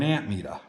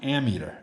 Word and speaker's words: ammeter: always called it an amp meter. Because you're metering amps. But it's actually pronounced ammeter. It's A-M-M, you know. There's no P in it.